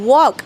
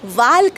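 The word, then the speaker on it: walk: option a वॉक okay आपण याला ओ के म्हणजे वॉक असं म्हणतो वाल्क नाही किंवा वॉल्क नाही ओके जस आपण मगाशी बघितलं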